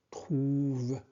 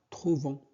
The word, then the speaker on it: trouvent: Ici, ENT ne se prononce pas. D'accord? Il s'agit d'un verbe conjugué à la troisième personne du pluriel au présent de l'indicatif. Donc, trouve. Ne prononcez pas trouvons. C'est incorrect.